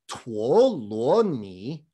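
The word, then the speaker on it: 陀羅尼: by the way folks in modern mandarin these three characters are pronounced tuoloni and you might be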